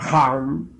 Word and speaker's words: Ham: Ham escribe con las letras H-A-M. Saj se escribe con las letras S-A-H. La H suena siempre como J.